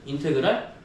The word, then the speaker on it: 인테그랄: 이거 인테그랄이라고 읽거든. 인테그랄. 인테그랄인데 뒤에 dx가 붙어 있어.